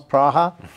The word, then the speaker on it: Praha: personally visited praha pra you pronounce praha am I correct yes yeah yeah and